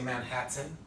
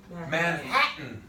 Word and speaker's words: Manhattan: That N is taken over. He is the king. So when I say the sentence, I don't say Manhattan. I don't say Manhattan. I say Manhattan.